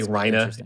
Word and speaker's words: Reiner: Well, they say Rhina in the English dub, even though it's very much spelled Reiner.